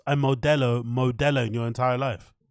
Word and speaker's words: Modelo: a Central American country you should be able to pronounce Modelo it shouldn't be too difficult to pronounce mabella if your spouse is